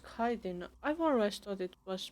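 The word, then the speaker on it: chitin: They produced a certain collection that used kiten among the materials. Apparently, kiten is made in the oxidant where it's extracted from bitter wings. So, it's pronounced kaiden. I've always thought it was pronounced chittin.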